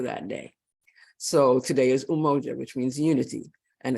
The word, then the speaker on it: Umoja: principle is for that day so today is umoja which means unity and it's pronounced umoja right today December 26th is the first day